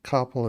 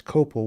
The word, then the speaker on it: Koppel: Had a gym teacher used to pronounce my koppel as Copel one time all through the whole semester, and I finally said, "Oh, by the way, my name isn't Copel, it's Koppel."